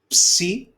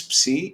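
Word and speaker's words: ψι: This is a letter psi. Okay. And it's a psu sound. Okay. Like in laps, in the pronunciation, if you can see laps.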